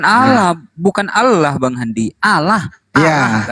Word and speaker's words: Allah: ejaannya saja sudah salah ejaan sesuai KBBI a l l a h kalau dilafalkan ee dengan baik dan benar Seharusnya kan Allah Allah orang Kristen nyebutnya apa apa alah alah alah alah Apa itu tidak